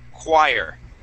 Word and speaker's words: choir: word is choir okay with the k sound at the beginning or it's like a a qu sound so qu choir good now it's uh obviously confusing because we have the word church right before that with good CH sounds and then we have choir that has a CH but we don't pronounce it with a CH sound all right so yeah